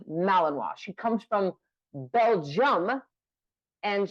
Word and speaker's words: Malinois: in malinoa which is spelled malano but it's pronounced malinoa she comes from Belgium and she is she